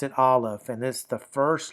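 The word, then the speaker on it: Alef: We pronounce it olive.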